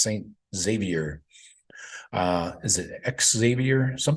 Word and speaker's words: Xavier: Cincinnati Saint X Saint Xavier uh is it Xavier some people say Xavier I think it's just Xavier you pronounce the X like it's a z right that's what I always